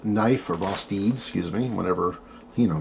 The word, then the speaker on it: Vosteed: This is a Vosteed knife, or Vosteed, excuse me, whatever, you know me, in pronunciations.